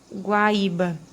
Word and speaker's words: Guaíba: o caso da palavra guaíba. Guaíba. A gente vai ter esse acento aqui num hiato e recai sobre uma paroxítona, porque a gente tem aqui a penúltima sílaba como sílaba mais forte, tá?